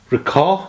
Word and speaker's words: Ricoh: It's not Rico as in Reeds, it's Ricoh.